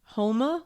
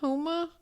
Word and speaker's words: Houma: Houma, Louisiana. Houma.